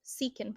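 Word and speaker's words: Siken: It is a line from a Richard Sicken. Is that how you say his name? Richard Sicken? A Richard Seekin poem.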